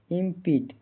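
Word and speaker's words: impede: ई का उच्चारण प्रोनाउंसिएशन इंपीट इंपीट लंबी इ की ध्वनि आती है आखिर ई साइलेंट होता है इंपीट का हिंदी अर्थ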